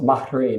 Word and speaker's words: Maharan: Yes, it's pronounced Maharan. It has a roll of the tongue and right after the A. Maharan.